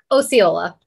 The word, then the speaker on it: Osceola: again because apparently I really messed up again Osceola okay Osceola but I think the way you pronounce it people do that all the time